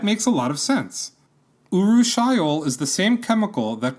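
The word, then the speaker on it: urushiol: that causes the rash and itching is called uru shol that's a fun word to say it's spelled you are you s h i o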